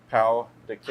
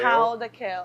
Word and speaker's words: pão de queijo: Pão de queijo. Pão de queijo.